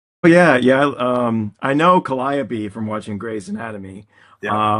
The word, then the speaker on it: Calliope: think they're said this way, like it's supposed to be Calliope, but we pronounce it Calliope.